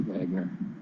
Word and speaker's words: Wagner: to say about the Wagner and he doesn't even say Weidner he uses Wagner he pronounces it Wagner which is really the the English way to say it Wagner it's the German Way but uh that's my